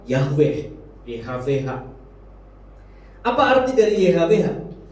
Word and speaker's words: Yahweh: Sebetulnya sebuah kata yang tidak bisa diucapkan karena nggak ada huruf hidupnya, huruf mati semua. Dan karena memang harusnya kata itu nggak bisa diucapkan, tapi kita sering menyebutnya dengan kata Yahweh, YHWH.